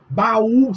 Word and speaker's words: baú: Baú, separa o A do U, tem um hiato, e aí esse hiato é acentuado no U, porque ele tá sozinho.